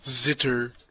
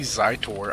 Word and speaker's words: Zitter: His name is Zitter. Yes, I do. That's sure what I think. Because I think a lot of people think that's my name. A lot of people pronounce it that way. Obviously Zitor.